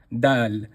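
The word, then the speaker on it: دال: letter is the letter dal. Dal as we can see in the card here is pronounced again at the top. So dal is pronounced very simply very easily not full mouth just empty dal.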